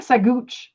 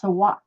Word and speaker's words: Saguache: The worst one is Saguache County, because Saguache is spelled Saguatch. What? Saguatch. Saguatch? Yeah, it looks like Saguch, but it's Saguache.